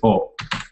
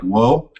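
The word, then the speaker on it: を: But it's definitely not like an English pronounced wo. It's almost just an O with a little W in front of it.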